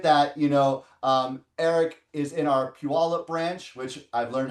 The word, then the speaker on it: Puyallup: But with that, Eric is in our Puyallup branch, which I've learned how to say properly.